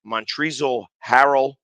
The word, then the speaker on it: Montrezl Harrell: i want to say his name right it's montrezl harrell uh he assigns a two-year 5.2 million dollar